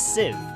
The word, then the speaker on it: sieve: is like a sieve so that's how you pronounce it i thought it was c so it's sieve learning learning new things every day papa's sad